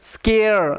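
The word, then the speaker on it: scare: যাচ্ছে যে এ আছে সি এর পরে এ থাকলে আমরা জানি সি এর উচ্চারণটা ক এর মত হয় ওই কারণে এস সি তার সাথে এয়ার স্কেয়ার স্কেয়ার কথার অর্থ হচ্ছে ভীতি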